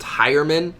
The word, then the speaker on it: Heuerman: name was it pronounced heuerman I completely did not understand how that was possible when his name is spelt H e you are like how do you get high out of that I don't understand Flacco